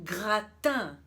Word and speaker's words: gratin: Brasil e eu vou começar então falando do rattan rattan Com certeza você já ouviu falar nesse